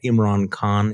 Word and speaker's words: Imran Khan: Jonathan Swan and the Prime Minister of Pakistan, Imran Khan. Is that how you pronounce his name?